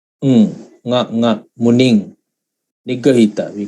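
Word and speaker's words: muniṃ: It's actually, in Pāļi language, it's nga, Muning. Nigahita, we call it. It's not Munim as in Sanskrit language. Sanskrit, they have Munim. But in Pāļi, we pronounce this as Muning, right?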